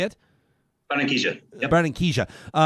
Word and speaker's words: Barranquilla: Do you pronounce the city? Is it Barranquilla? Is that how you say it? Barranquilla.